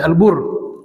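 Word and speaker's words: البُرّ: Kapan dibaca albir, kapan dibaca albar, kapan dibaca albur, dan apa artinya. Masih banyak yang salah baca. Kalau albir itu artinya al-ihsan, kebaikan. Kalau albar alyabisa daratan yang kering ya. Sedangkan kalau albur itu alqamah gandum.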